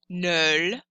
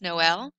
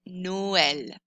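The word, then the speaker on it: Noël: have this on top it means that o and E get their own sounds it splits them apart so normally OE together in French is pronounced so this word would be null but we know this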